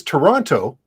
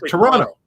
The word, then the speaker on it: Toronto: The correct pronunciation really is Toronto, but people up here don't say that. It's like Toronto. Yeah, it's like that.